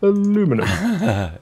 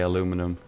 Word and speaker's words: aluminum: It's pronounced aluminum. If you live in the States.